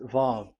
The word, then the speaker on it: vav: So the word, the shape Vav is really pronounced V, like Vogue. That is it, pronunciation. So here in this side, it's pronunciation. This is pronunciation. So according to the old Hebrew word today, those who, the owner of the words, I mean, so it's a V. So don't change it into W.